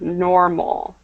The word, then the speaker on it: normal: normal perfect so um just remember to pronounce that L at the end normal okay normal okay thank